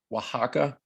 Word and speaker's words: Oaxaca: can see here uh pronounced oaxaca okay in mexico and i put that there because a lot of people might not know how to pronounce that but this is the